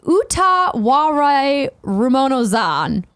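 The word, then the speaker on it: Utawarerumono: Zan: Cody J says it's pronounced Utaware Ramonozan. Okay. Utaware Ramonozan. Utaware Ramonozan.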